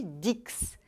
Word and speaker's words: dix: significa 10 atenção porque esse x aí deve ser pronunciado com som de s olha pensa em vez de Dix Então repita por favor